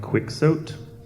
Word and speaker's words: Quixote: I believe it's Don Quixote. Yeah, That's the proper way to Quixote, yeah.